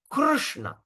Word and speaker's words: Krishna: The proper pronunci is Krishna. Krishna or in other words we pronounce we just break the word. We break the word like this. So how we going to pronounce Krishna C?